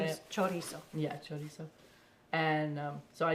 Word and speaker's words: chorizo: Chorizo.